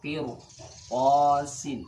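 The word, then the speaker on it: قرطاس: Jadi bacanya mir, bukan mir. Mirsadan. Contoh yang lain misalnya qirtasin. Qirtasin.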